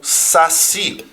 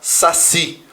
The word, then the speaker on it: saci: por exemplo fubá ou Saci daqui ó fiz a última sílaba tônica não fala fubá não Fala saci é fubá Saci Então você conta sempre